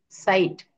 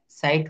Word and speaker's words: sight: সাইট, সাইট মানে দৃশ্য, সাইট বানান কি, SIGHT, সাইট শব্দের অর্থ কি, দৃশ্য।